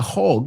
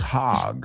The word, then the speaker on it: hog: Aunque se escribe con O, no se pronuncia hog, it's hog, hog.